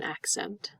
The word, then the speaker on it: accent: going to listen to The Sounds we hear in accent you hear both don't you because the first C is this first C in front of the letter e i or Y no this first C